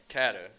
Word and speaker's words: Caddo: Maybe not as big as Louisiana because of they had Caddo Lake or Cato. Did I say it wrong again? Caddo. Caddo, okay. Caddo. I had a Louisiana and tell me I said it wrong.